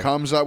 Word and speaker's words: Khamzat: Kamzat. What's that? How do you Khamzat?